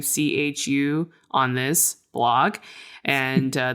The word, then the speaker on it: Chu: Again, that's chew spelled like my last name, chu on this blog.